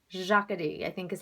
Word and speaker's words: Jacadi: pink sweater that goes with this at some jacadi and actually i've been mispronouncing the name of this store for as long as I've been sharing clothes with you guys it's Jocketty Jocketty i think is how they pronounce it um